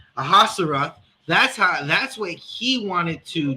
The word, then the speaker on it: Ahasuerus: And that's what King Salakia, how do we pronounce his name? Ahasuerus.